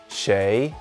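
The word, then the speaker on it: 谁: a little bird told me this character is pronounced shay and means who it is used in this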